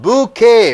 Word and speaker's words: bouquet: do have a silk business q-u-e-t is called bouquet bouquet bunch of flowers bunch of flowers is